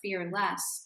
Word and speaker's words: Fear Less: sure first of all thank you for pronouncing the title correctly because people sometimes say fearless and I'm not fearless